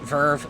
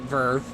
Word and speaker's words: VRV: makers of crunchyroll vrv i'm pretty sure people pronounce it verve but however when it